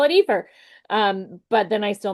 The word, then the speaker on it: IFER: which is often called Epher uh which is how you might pronounce it in Spanish, right? Alondo Ephair.